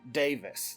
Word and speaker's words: Davies: Alan Davis. It's Davies Davis again. It's spelled Davies. They say Davis.